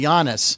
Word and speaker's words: Giannis: better from the last say jannis I noticed I pronounced his name correctly Giannis very good now I